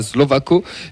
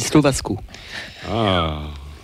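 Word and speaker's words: Slovácko: Si je peux me permettre, à mon avis, ça se dit Slovasco.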